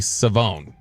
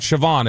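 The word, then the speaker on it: Shavon: uh on Friday night it's actually Savone. So it is not Siobhan, it is Savone. How does he spell it? S H A V O N which looks like Siobhan. Siobhan, but it's Savone.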